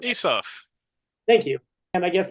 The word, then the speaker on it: Isuf: And Mike said to Omar Isuf, I asked you this an hour ago, and I'm still mispronouncing it. Isuf.